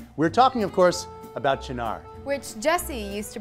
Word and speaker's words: Cynar: its most mispronounced we're talking of course about janar which Jesse used to pronounce sign R okay this coming from someone who admits that